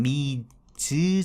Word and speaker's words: Ms: 요거를 합친 개념이 요게 MS 발음할 때는 미즈 정도 느낌으로 발음하면 됩니다 미즈로 요즘에는 쓰는 경향이